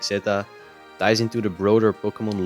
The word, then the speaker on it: Z-A: So yeah, I also recently figured out that it's pronounced Pokemon Legends Zeta, and not Z or ZA, or I already heard people calling it Zay, Za. So yeah, it's actually Zeta, and it makes a good.